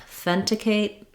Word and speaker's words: authenticate: slightly reduced vowel there the um vowel in the fen syllable is the vowel e just like in the word uh red or then even though this looks like then this is a voiceless th sound so not authenticate but authenticate it's the same th that we have in think or both no no vibration in the throat just uh air coming